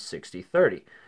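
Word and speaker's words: 6030: three zero okay and that's usually pronounced as 60 thirty now it's not written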